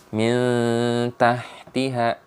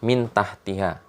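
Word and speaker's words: مِن تَحْتِهَا: tak ya tidak bertasydid maka dia bacanya Mi tahtihal jangan dibaca mintah tiga itu salah ya di pasti dia bacanya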